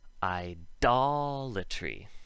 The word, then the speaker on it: idolatry: If we look at idle over here, it's the base in the word idolatry, which would have the hard D for the same reason.